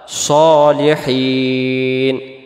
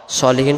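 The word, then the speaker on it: الصالحين: উপরে ইবাদিল্লাহিস আল্লাহর বান্দার সালেহীন নেককার বা সৎ সলিহীন শব্দের অর্থ হলো নেককার বা সৎ তাহলে এটাকে আমরা সালেহীন পড়বো না উচ্চারণ করবো কি আমরা সলিহিন আবার হিন টান দিব আর যদি বলি সলিহিন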